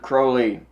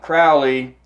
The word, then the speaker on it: Crowley: a gentleman named Aleister Crowley not Crowley Crowley Aleister Crowley pet peeve of mine I'm sure it was a pet peeve of his as well because he wrote about it on how to properly pronounce his name so I to Crowley